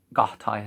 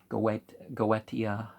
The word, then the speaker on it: Goetia: Gahtaya number 13. Goetia, you can pronounce it like that too, give it a more Latin sound.